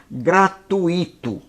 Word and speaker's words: gratuito: Tem pessoas que falam que, vamos dizer, vamos dar um exemplo da palavra gratuito. Gratuito é o barbarismo. A palavra correta, a pronúncia é gratuito. Gratuito. Não gratuito, é gratuito.